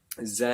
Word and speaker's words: ز: Za is like normal Z in English, nice and simple.